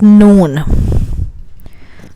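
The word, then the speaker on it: نون: Let's go to the next one, which is noon. Noon. Like this. Noon. Like afternoon or something.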